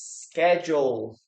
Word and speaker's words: schedule: Okay, this word is schedule. Schedule. Schedule. Schedule. Okay, we have a letter K here.